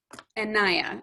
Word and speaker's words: Nneya: Nneya, am I saying it right this time?